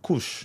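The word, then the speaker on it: Kursk: All right, that is pronounced Kush.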